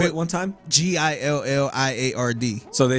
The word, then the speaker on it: Gilliard: Gilliard. So they say Gillard? Gillard, Yeah. Gillard, and yeah. They never say, I'm like, it's like billiard. Yeah. When you think of billiard, Gilliard.